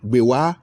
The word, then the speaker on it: Gbewaa: The name Gbewaa, as it is known in present day, was actually pronounced Gbewaa, but our colonial masters, the British, who could not pronounce it properly, and hence its modern pronunciation.